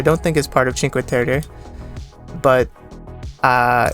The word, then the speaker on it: Cinque Terre: Ci- Cinque Cinque Terre. I think you pronounce it that way.